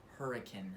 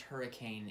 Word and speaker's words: Hurricane: when i say hurricane i mean this town hurricane here locally it is not pronounced hurricane it's pronounced hurricane so that's like a local